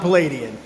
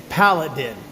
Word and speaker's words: Paladin: It's not Palladian, it's Paladin, which is a heroic knight or champion.